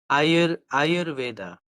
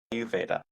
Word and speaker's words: Ayurveda: So how would Ayur, you pronounce it? Ayurveda. Ayurveda.